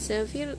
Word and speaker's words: Xavier: Nah, Zafir kan dibacanya Zafir tapi pengejaannya beda, XAVIER.